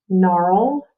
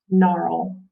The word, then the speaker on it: gnarl: all right next word you ready um gnarl gnarl your turn the trees roots would gnarl around